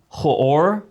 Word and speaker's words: Hoor: At least that's Hoor, H-O-O-R.